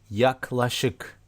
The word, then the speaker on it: yaklaşık: About nearly, yaklaşık, yaklaşık, yaklaşık, yaklaşık. But we don't pronounce K so strongly here.